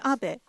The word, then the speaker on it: Abe: House my name is Abbe but in the United States some people mistakenly pronounce my name as ape but that is not